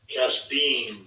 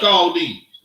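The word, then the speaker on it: כשדים: Kasdim. Kasdim. So it's not pronounced Chaldees.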